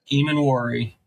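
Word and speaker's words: Emmanwori: Eman Worry.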